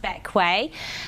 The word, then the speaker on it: Bequia: a whistle-stop tour of the beautiful island of Bequia. So, the first question people ask, other than how to pronounce it, so despite being spelled like the queer, it's actually pronounced Bequia.